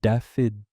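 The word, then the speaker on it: Dafydd: Chin, but Daffid, the Welsh pronunciation his grandmother had used.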